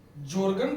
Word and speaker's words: Jorgen: ग्राम matrix, जॉर्गन पेडरसन ग्राम, ये पूरा नाम है इनका। JORGEN, जॉर्गन पेडरसन, PEDERSEN, पेडरसन ग्राम। ये हिंदी में उच्चारण, जॉर्गन पेडरसन ग्राम।